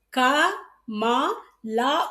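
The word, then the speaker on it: कमल: அந்த எழுத்துக்கள நம்ப உச்சரிக்கும்போது, இப்ப எப்படி உச்சரிக்கணும்னா, க, மா, லா உச்சரிக்கக்கூடாது. க, மா, இல். கமல்.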